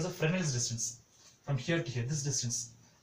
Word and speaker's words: Fresnel's: that's called as a Fresnel's distance. From here to here, this distance. Okay. This is called as a Fresnel's distance. Okay. S is silent here. Okay. So we say Fresnel's distance.